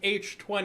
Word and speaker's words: H20: still think it's but it's supposed to be pronounced h20 because it was like either that it was the 20th anniversary movie yeah but because h2o